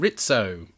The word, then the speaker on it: Rizzo: say that spotted it this is Ensign ritso not Rizzo the rat well fully enough Rizzo is the way it's spelled oh this is a